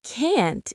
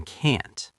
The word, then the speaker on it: can't: But can't is strong and clear. I can't help you. The stress is on can't.